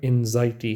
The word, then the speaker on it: anxiety: ये word एनजाइटी है, इसमें जेड का साउंड आना है, लेकिन एक्स लिखा हुआ है, एक्स ही लिखा होगा, लेकिन आपने जेड का साउंड प्रोनाउंस करना है।